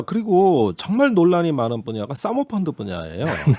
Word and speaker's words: 사모펀드: 자, 그리고 정말 논란이 많은 분야가 사모펀드 분야예요. 왜 사모펀드라고 하면 너무 우리가 약간 여기가 유흥업소 같으니까 이제 사모펀드로 하는 것이 발음을 시정하겠습니다.